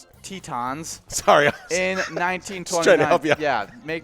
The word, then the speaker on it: Tetons: and then and the grand uh tentins tetons tetins tetons sorry in 1912 yeah make me pronounce it right i would i i appreciate